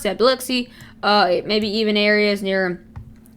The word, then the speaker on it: Biloxi: anywhere around here it may make landfall for biloxi sorry or biloxi i actually know how to pronounce that biloxi uh maybe even areas near areas of the